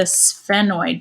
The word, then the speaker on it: sphenoid: corner and that is the sphenoid bone pronounced just like frozen character sven right the little reindeer the so the sphenoid